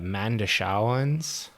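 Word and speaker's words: Mondoshawan: It's spelled like Mandosh. Yeah. The way that people pronounce it doesn't match how it spells, or how it is spelled. So it's like Mandashawan is probably pretty close.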